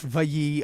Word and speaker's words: Valle: I don't know what's up that my name is pronounced Valle, like Frankie Valli.